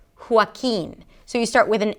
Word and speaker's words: Joaquin: But generally, the J does not represent the 'h' sound. In this name it does. Joaquin.